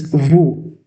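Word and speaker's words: vous: Okay, we have next pronoun, that is vu. We have next pronunciation, that is vu. Vu means you.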